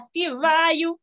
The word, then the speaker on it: співаю: І так само, як заплетися, так само я тобі співаю, не співаю, а співаю. Отак трошки наголос інший.